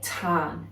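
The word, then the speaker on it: tân: Celtic traditions in Welsh, we call it Tan, emphasis on the R. You'll notice when it's spelt there is a little roof over the A, and that roof means we elongate that A sound.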